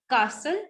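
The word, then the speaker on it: castle: कासल, will speak it कासल.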